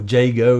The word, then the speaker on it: Iago: It's about Iago, or Jago as he was probably meant to be pronounced, working on Othello, working